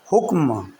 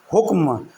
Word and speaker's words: حکم: کے ساتھ پڑھیں گے۔ ایک ہے حکم۔ حکم حکم یہ کاف اور میم دونوں ساکن ہیں، اور آپ نے اس